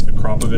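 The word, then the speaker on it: Akrapovič: Yeah, it's Akrapovich. Not Akrapovich, Akrapovich, whatever the hell. None of those. Akrapovich.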